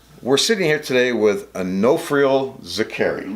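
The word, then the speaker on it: Onofrio Zicari: we're sitting here today with Onofrio Zakari.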